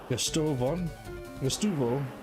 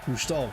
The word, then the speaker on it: Gustavo: Satoshi, Misty, Petrie, Male, Gustuvo, and Charlie. Gustavo, that's right.